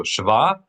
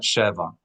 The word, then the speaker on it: shva: So shva and not sheva. Shwa, accent the last syllable.